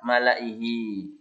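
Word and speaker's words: مَلَإِيهِ: Semua tulisan malaihi dibaca malaihi. Ya, la-nya dibaca pendek. Ini contohnya. Ila fir'auna wa malaihi fastakbaru wa malaihi. Jadi bukan wa malaihi, salah ya. Diingati ya. Semua tulisan malaihim, malaihi, la-nya dibaca pendek.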